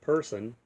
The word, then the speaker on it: Purson: Um, and if you're not familiar with Person, it's spelled Purson.